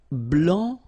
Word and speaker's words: blanc: so here, masculine, blanc, don't pronounce the final C, and then blanche.